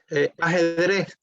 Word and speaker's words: ajedrez: Ajedrez. Chess in Yes. Spanish is ajedrez.